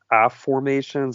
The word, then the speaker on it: afformations: place your previous book is the book of app formations and I believe you coined that term it's spelled a-f-f-o-r-m-a-t-i-o-n-s what are affirmations and what's that